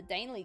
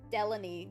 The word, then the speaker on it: Delaney: And you do know what happens to the Daneley girl, don't you? Well, of course Ethel knew what happened to the Delaney girl, is how you say it.